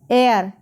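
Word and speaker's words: heir: एयर इसमें H silent रहेगा।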